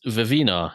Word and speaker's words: Vivenna: Vivenna. It's not Vivenna. Also kidding. known as Vivina, as Brandon says. Oh my god. What? Does he? Yeah, he does. Yeah, he It's weird. No. In- Oh, It's no. the worst. I hate it. so That's much. not how double N's work.